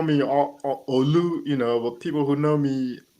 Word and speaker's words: Olu: Most people call me Olu, but people who know me longer than that call me Olu. Yeah, Yeah. but the right pronunciation is Olu.